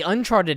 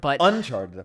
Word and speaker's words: Uncharted: And then there was also, we talked about on the Uncharted episode. I don't know why I put the emphasis on the wrong syllable, but Uncharted episode. On the Uncharted episode, not Charted.